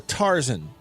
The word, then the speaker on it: Tarzan: Now, Beav, before we move on real quick, I got to ask you, do you say Tarzan or Tarzan? Tarzan. Okay. So it's like two equally emphasized syllables.